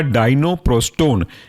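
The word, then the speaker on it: Dinoprostone: पहला एग्जाम्पल है आपका डाइनोप्रोस्टोन। स्पेलिंग की अगर आप बात करोगे तो ऐसे काट करके हम उसको बोल सकते हैं डाइनो DINO, प्रोस्टोन PROSTONE।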